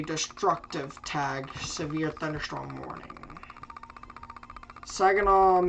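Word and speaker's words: Saginaw: Sagenol Michigan Sagenol Michigan. That's a song. So that's how I know how to say it properly.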